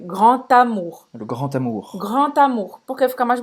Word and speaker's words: grand: Não sei porquê, a gente pronuncia como se fosse um T. Le grand amour. É um D, mas se pronuncia como se fosse um T. Le grand amour. Geralmente a palavra grand, quando vem depois com uma palavra que começa com vogal, esse som de T.